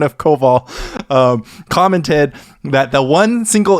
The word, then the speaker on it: Koval: And Brian Koval, the correct pronunciation of Koval, commented that the one single invocation stifle really makes the photo.